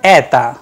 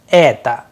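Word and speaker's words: это: In the word eta, which means this, the vowel sound a is under stress and the unstressed vowel o is pronounced as short weak sound, eta, though we have used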